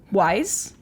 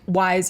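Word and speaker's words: Weisz: to look this up I think it's Eric wise okay it's spelled very strange it's spelled e-h-r-i-c-h-e-h-r-i-c-h Eric yeah that sounds right yeah and then wise is w-e-i-s-z w e i yeah okay so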